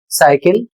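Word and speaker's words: cycle: अगला शब्द है सी वाई सी एल ई। इसे पढ़ा जाएगा साइकिल।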